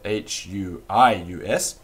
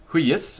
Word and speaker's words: hujus: you can spell it h-u-i-u-s but it's not pronounced huis it's pronounced hui yes the first syllable is heavy and the ye in